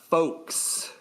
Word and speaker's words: folks: You really put the L into folks. Folks. I don't think you have to. About you don't really pronounce the L in folks.